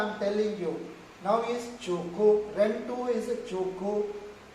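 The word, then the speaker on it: Qugu: Here is whatever I am telling you now is Chuku, Rentu is Chuku pronunciation, but you pronounce Chuku. In English is Q-U-G-U. How do you pronounce? Q-U-G-U, Kyugu. In English is Kyugu. In Chinese pronunciation is Chuku.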